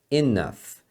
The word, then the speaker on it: enough: já chega that's Enough a palavra Enough como você deve estar percebendo é um pouco estranha porque esse GH você pronuncia como um F tá E aqui é um som de A então é Enough that's Enough I'm kiding